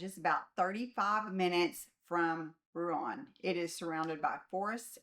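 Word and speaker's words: Rouen: For reference, in France, in French it is said as ru. Now, this quiet village is about 35 minutes from Ruan.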